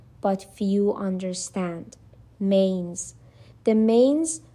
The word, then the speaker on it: manes: The manes, pronounced approximately mah-nays, were the spirits of the dead.